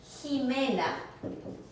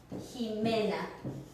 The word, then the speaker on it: Jimena: Or there's a name in Spanish, Jimena. Jimena. Do you hear that same sound as the jota?